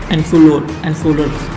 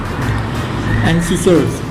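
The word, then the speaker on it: incisor: हैं वो होते हैं एंसोलर्स। इंसिसर्स, इनको सही में पहले प्रोनाउंस नहीं कर रहा था, इंसिसर कहते हैं।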